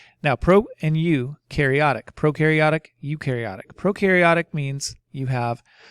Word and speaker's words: prokaryotic: pro and you karyotic prokaryotic eukaryotic prokaryotic means you have no nucleus pro rhymes with no no nucleus prono eukaryotic